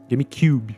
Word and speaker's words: GameCube: GameCube, se você quer a pronúncia correta.